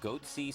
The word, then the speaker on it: Goatse: and they're getting the goatse picture they're called goatse security is that my pronouncing that correctly yeah that's right we're analyzing